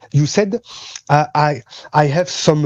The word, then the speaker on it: Said: but we say just said you can say just said like past yeah like saying past simple okay say thank you